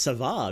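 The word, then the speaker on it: Сава: entirely sure though uh is pronounced Sava you can call me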